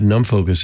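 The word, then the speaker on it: NumFOCUS: what open source science is about uh what num focus is about as well and is it pronounced that way yeah it's num Focus yeah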